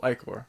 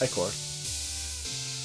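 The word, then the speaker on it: ichor: fill it with magical I Corps that's pronounced echo who's your aegyo wisely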